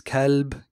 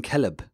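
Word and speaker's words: كلب: little the regional variations you will actually hear this pronounced a whole lot of different ways Caleb Caleb killed or even calleb so it's the same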